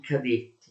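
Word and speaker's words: кадет: Il partito cadetto si chiama così solo perché le iniziali di questo partito, KD, in russo si pronunciano K e det, queste due lettere, KD, cadet, per questo partito cadetto, è l'acronimo di Partito Costituzionale Democratico.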